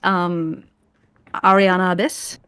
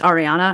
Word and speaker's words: Erianna: So it is, I think it's technically pronounced Ariana Abyss. And it's actually just Ariana, and then the Abyss is kind of like a loose translation of the first name.